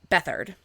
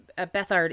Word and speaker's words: Bethard: I apologize if I'm mispronouncing that. I looked and I found I believe a country singer whose last name is Bethard, and it's spelled beat hard. So I was afraid of mispronouncing that, so I looked it up, and I did find, like I said, a singer whose last name is Bethard, and that's how he pronounces it. So I'm going to go with that.